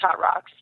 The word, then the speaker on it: Hotrawks: Well, the first thing I tell them, and because I do have the product Hot Rocks, which is spelled HOTRAWKS, and it is a supplement.